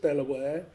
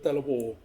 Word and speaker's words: De La Warr: The reason we say Delaware is because of the family name. The family pronounce it Delaware. And there's connections to the states to Delaware state. There's a connection there. So, but I think we're slowly moving back to Delawir, aren't we?